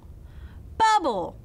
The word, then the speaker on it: bubble: That means it's going to make a short vowel sound and the E at the end is silent. Let's sound it out. B-U-B-L. Bubble.